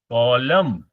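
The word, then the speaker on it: column: है इसको हम बोलेंगे कॉलम लिखो स्पेलिंग कॉलम कॉलम इसमें जो एन है वह साइलेंट है उसका साउंड नहीं निकलता है लेकिन आपको स्पेलिंग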